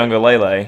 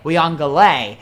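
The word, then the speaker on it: Uiagalelei: i will say this because we got that pronunciation from google translate yeah well it was wrong because reese davis was saying dj we on galay even though the last part of his name is spelled l-e-l-e-i so wouldn't you think it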